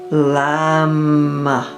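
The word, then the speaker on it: लं: And the one syllable Sanskrit mantra is lamb like lamb lamb.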